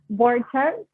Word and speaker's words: Borchert: Borchert.